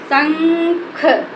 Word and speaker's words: शंख: बोलना है स संख शंख इसको क्या पढ़ देंगे शंख इसका जब नाक संख बेटा से उच्चारण इसका इस तरह से हुआ जैसे बोला स इसको उच्चारण देख नाक से कर रहे है ना जब इसका नाक